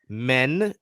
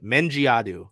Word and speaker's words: Mendjiadeu: We got the pronunciation guide. Dulcy Fankam Mendjiadeu. Say it with me. Dulcy Fankam. Like F-A-N come C-O-M-E. Mendjiadeu. That last name really messed me up when the draft happened. Mendjiadeu.